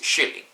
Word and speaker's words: kylling: Or for example, the word chicken is kylling, and that's K-Y-L-L-I-N-G. So yeah, you don't never put the J never put the J between K and I or Y, but always pronounce it as though it is there.